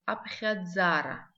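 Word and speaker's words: абхьадзара: Счет на абазинском абхядзара. Абхядзара. Давайте запишем это слово абхядзара. Какие для нас здесь звуки новые? Звук х, мягкий знак, и звук дз.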